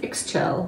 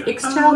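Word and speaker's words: Ixchel: is this stuff by I don't know how to pronounce it Exel I'm going to say Exel but it's iix c h e l and this is her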